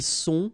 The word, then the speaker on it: sont: Ils sont, final T not pronounced.